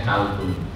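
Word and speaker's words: قلب: Kolbun itu kalau kita sering baca di sini kolbun, ya kan? Kalau di Sulawesi bukan kolbun, tapi bacanya kalbun. Ini makhraj itu seperti itu.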